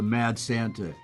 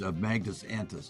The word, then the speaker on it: Magnus Antus: They wanted to call it the Mad Santa, and it's just a mispronunciation, which I think is funny. It's Magnus Antus.